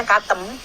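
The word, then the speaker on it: قثم: Katem atau Kutam tuh? Ya Kutam itu bacanya Katem.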